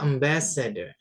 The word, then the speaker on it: ambassador: atlet olahragawan kemudian ada ambassador. Ambassador OR itu dibacanya er ya jadi ambassador dan r yang di belakang jangan dibaca jelas ya.